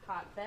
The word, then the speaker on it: Haatvedt: Hotbed.